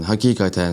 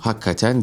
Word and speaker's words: hakikaten: Arapçadan dilimize geçmiş olan hakikaten sözcüğü gerçekten sahiden anlamları taşıyor. Ama gündelik hayattaki telaffuzu hakikaten değil. Yine yazıldığı gibi hakikaten olarak söylemek lazım.